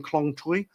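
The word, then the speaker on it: Khlong Toei: And I was over in Klong Tui. That's how you pronounce it. Tui, not toy.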